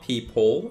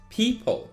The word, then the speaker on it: people: people it's not people it's not people it's people very quickly you need to finish that people next one is not